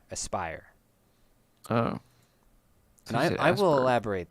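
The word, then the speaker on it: Aspyr: asper and I asber or as Aspire I think is how it's pronounced as P yr Aspire oh I I will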